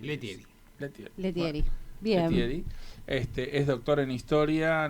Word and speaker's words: Lettieri: a los amigos Alberto Alberto leel no no se pronuncia así letier este Es doctor en